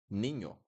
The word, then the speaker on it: niño: Guys, boy in Spanish is niño, niño, niño. This sound that I do in the second part of the word, niño, niño.